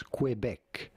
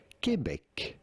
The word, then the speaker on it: Quebec: go about pronouncing it in English it is sometimes said as Quebec Quebec in French it is said kebec Quebec you can either call it it Quebec or Quebec Quebec or Quebec it's